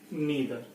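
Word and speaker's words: neither: Distributive में each, ईदर और नीदर, इसको आप आइदर और नाइदर भी प्रोनाउंस कर सकते हैं, करते हैं, दोनों एक्सेप्टेड है।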